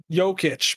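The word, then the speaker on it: Jokić: Jokic, by the way.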